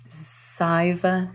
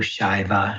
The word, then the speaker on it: Shaiva: So when the S has a little accent over it in Sanskrit, it's pronounced as an SH. So it's actually Nandu Shaiva Shakta Tantra.